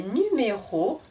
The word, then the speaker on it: numéros: une dernière fois cette phrase elle lit les numéros du loto j'espère que ce cours est intéressant